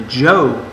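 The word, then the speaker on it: Zhou: structure and life in the jo dynasty that's how that's pronounced and you will define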